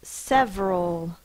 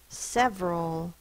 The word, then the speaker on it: several: The next word is several. Several. S-E-V-R-A-L. S-E-V-R is spelled E-R in this word. O is A-L. That's the schwa.